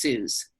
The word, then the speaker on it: Suze: My name's pronounced Suze, like Jews.